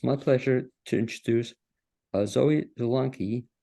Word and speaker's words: Zelonky: And to that end, it's my pleasure to introduce Zoe Zelonky, am I pronouncing it correctly? Yep. Zelonky, who's the education director at Asheville Community Theater.